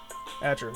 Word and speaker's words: Atro: Atro? Is that how you pronounce that name? Atro, yep.